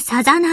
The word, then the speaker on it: 漣: ですご主人様こう書いてサザと読みますご主人様お